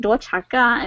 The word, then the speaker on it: Duachaka: Like Duachaka, that's just like the Americanized version of it. Yes. Like to say in Hmong is like Duachaka, and yeah, so it